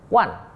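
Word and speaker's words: 万: Nah, wan dibacanya wan, ya, wan.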